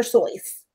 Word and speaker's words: Seuss: and you shouldn't rejoice if you're calling him seuss he pronounces its source pronouncing it that way right but yes apparently it should we're sure we should be saying dr soyth but yes that's what his buddy wrote wow